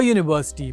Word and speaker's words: university: For example, we say a university because although the word begins with a vowel, it has a consonant sound Y.